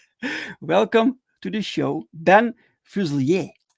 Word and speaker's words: Fuselier: get it right welcome to the show Dan fuselier how did I thank you you were close you were very close it's uh it's usually pronounced fusile but fusely a technically is probably more correct